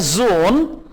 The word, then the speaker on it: Sohn: Auto Schmidt ist der Sohn, S को Z pronounce करेंगे, ist der Sohn von Herrn Schmidt।